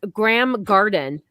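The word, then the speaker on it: Graeme Garden: The next one is Graham Garden, but it's spelled Graeme.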